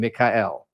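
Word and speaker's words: Mikael: And there I was using the Hebrew name Mikhael. So I spelled my name in English, M-I-K-A-E-L, right? Because that phonetically sounds closer to the Hebrew Mikhael than Michael would be.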